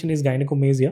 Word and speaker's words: गाइनेकोमास्टिया: इसका सही उच्चारण गाइनेकोमासिया है, लेकिन हम इसे गाइनेकोमास्टिया कहते हैं।